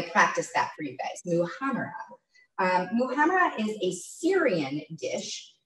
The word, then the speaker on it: muhammara: This is for the first step of the, I always feel like I'm gonna mispronounce this, the muhammara. I practiced that for you guys, muhammara.